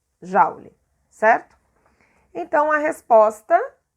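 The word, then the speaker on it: joule: é esse j jauli escreve com o juli mais pronuncia jalili certo então a resposta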